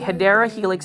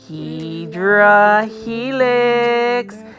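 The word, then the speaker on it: Hedera helix: hyera Helix English ivy hadera Helix is the correct way to pronounce it but if you are a plant foldy you know that I'm going to pronounce it HRA Helix now as far as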